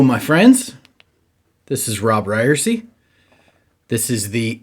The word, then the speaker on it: Ryerse: But before we get to that, this podcast is called It's Pronounced Ryerse, and I've heard from some of you who don't love the name.